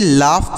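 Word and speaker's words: laugh: पढ़ा जाएगा प्यारे साथियों इसे लाफ पढ़ेंगे एल ए यू जी एच लाफ पढ़ेंगे अ लाफ मतलब होता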